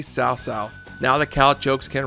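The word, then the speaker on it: Cao Cao: Finally, CowCow is no longer CowCow. It's correctly South.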